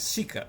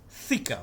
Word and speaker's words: thika: It is actually not sika, it's thika, but he cannot pronounce that.